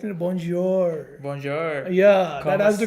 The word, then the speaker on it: bonjour: papa not like this you need to pronounce it like this bonjour not like that bonjour no it's bonjour bonjour yeah that has